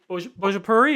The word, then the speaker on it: Bhojpuri: I'm pretty sure it was in, and I'm going to pronounce it wrong, but the Bhojpuri, is that accurate?